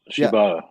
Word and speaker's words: Shibata: Shibata. Am I pronouncing it right? That's it. Yeah. Shibata.